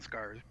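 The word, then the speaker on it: Sk' Arr: From the pronunciation, kind of this guy thinks of it. There's no hesitation in there like there usually would with an apostrophe. It's just Scar.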